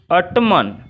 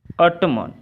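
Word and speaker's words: autumn: अब अगला है आपका 4 में है टू ऑटमन। अब देखिए टू ऑटमन, यानी कि हम एन को क्या करेंगे, साइलेंट करेंगे। एन को हम साइलेंट करेंगे तो हमारा शुद्ध क्या होगा, टू ऑटम।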